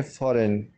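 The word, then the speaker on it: foreign: फॉरेन, फॉरेन में जो है जी साइलेंट है, जी को हम नहीं पढ़ेंगे इसको हम पढ़ेंगे फॉरेन।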